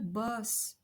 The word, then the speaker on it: bosse: In some os words, like in the word boss, or when the consonant is doubled, we also we have to pronounce an open O. Boss, a bump. Boss, une bosse, a bump.